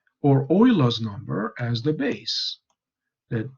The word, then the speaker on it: Euler: And in honor of his heritage, it's not pronounced Euler, it's pronounced Euler. So it's not anglicized.